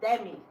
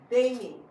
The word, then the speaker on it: Dami: They always call you Demi. Yeah. But your name is Dami.